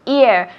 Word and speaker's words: ear: Ear. No hay una H. Hear significa oír, el verbo. Pero ear, sin la H, solo la E. Es oreja.